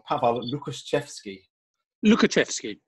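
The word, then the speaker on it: Łukaszewski: wrong pablo lucas chefsky lukaczefsky i think is how we would um or how i've always said it um yes lovely piece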